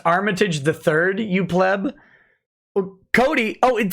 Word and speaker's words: Armitage III: it together from oh that's too bad it's pronounced armitage the third you pleb cody oh it does say the